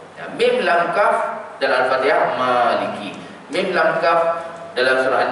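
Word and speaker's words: مَالِكِ: Maliki ni kalau siapa yang betul-betul perasan, Maliki itu tidak ada alif itu. Kita baca panjang dikarenakan adanya mat yang tegak tu.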